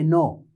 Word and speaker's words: know: Now when you say no, now one is this and the other one is this. We both pronounce as no. K is silent.